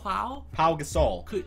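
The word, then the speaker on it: Pau Gasol: was it Paul Gasol there's no l it's not Paul it's just Paul pa pa Gasol po Gasol I mean he just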